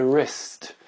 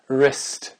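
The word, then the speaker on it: wrist: prononce pas wrong euh le poignet en anglais c'est rest rest W r i s t ok donc certains mots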